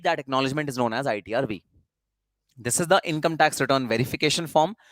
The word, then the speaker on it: ITR V: This is not ITR 5. This is known as ITR V.